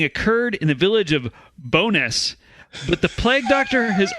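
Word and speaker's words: Bo'ness: has a longer name they call it bonus but the name is actually burrow stewness oh bro okay yeah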